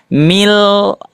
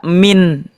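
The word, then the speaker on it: مِن: Membacanya gimana? Memasukkan ke huruf selanjutnya. Mil. Tidak dibaca min tapi mil. Ah, dimasukkan ke huruf lamnya.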